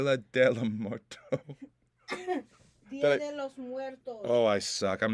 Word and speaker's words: Muertos: Pronounce it like it's M-W-E-R. Muertos.